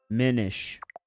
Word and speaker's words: Minish: Minish. I bet it's good. Like diminish. It It's a play on cuz he's small in that game.